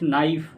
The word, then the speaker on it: knife: We can see that knife honest starts with H. Knife starts with K and word no K N O W here K is silent in knife K is silent honest H is silent right?